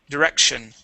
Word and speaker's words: direction: Okay, so you missed that C right before the T. It is direction.